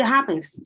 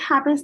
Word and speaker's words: happen: In English, however, the H is much softer, more of a whisper.